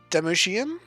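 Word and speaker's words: Damcyan: Okay, in the original Japanese it's Damushian, so I'm going to say Damsan.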